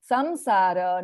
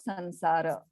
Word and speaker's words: samsara: For the ushmanahas, which is sha, sa, and also ra, it is pronounced as So amsha, samshaya, Samsara, not sansara.